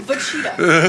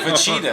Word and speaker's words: Vegeta: But I want you to you had to talk about Majin Vegeta's No, we'll definitely.